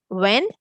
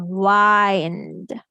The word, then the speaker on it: wind: So, in uh one pronounce pronunciation, I is saying the eh sound w eh n d wind. And in the other pronunciation here, it's saying the long I sound wind.